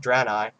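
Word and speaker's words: Draenei: actually is the most hilarious thing about the drani ey uh that's right it's pronounced drani ey um if you can't you can't see I'm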